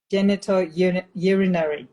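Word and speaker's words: genitourinary: Genito urinary.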